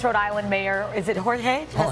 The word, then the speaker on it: Jorge: Providence, Rhode Island Mayor, is it Jorge?